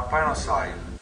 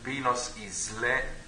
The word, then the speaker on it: Pinos Isle: Ci troviamo a Pinos Isle, che, non usando un accento inglese, Pinos Isle, ricordatevi Pini, se volete.